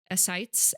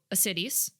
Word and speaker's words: ascites: So ascites. I said it right? Yes, ascites.